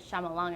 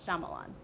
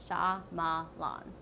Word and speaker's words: Shyamalan: Night Shyamalan and Ding Dong, or whatever you want to say, because you can't pronounce his name. It's Shyamalan. Shyamalan.